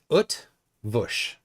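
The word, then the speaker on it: Eötvös: the Earth version yeah there's no there's no r sound UT Bush thank you for that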